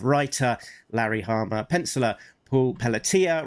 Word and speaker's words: Pelletier: Writer Larry Hmer, pencellor Paul Pelia rhymes with Pia um Inca Tony Cordos, colorist Francesco Sagala with flatter Sabrina Delgroso.